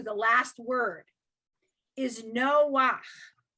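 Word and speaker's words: נֹחַ: end of the word, you actually pronounce it backwards. You pronounce it ach, not cha. So for example, page 60, line 2, the last word is Noach, right?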